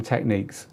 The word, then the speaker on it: Technics: a culture thing but you are completely right if you call them techniques although it is spelled Technics with a Cs on the end not a que um so Revisited disco